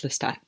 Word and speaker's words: Lestat: and blond and whose name rhymes with rat and has a list in the beginning of it it's Lestat if you can't catch